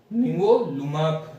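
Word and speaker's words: nivolumab: इसको प्रोनाउंसिएशन कर, इसका सिंबल है एन निवोलुमाब, इसको ऐसे प्रोनाउंस करते हैं।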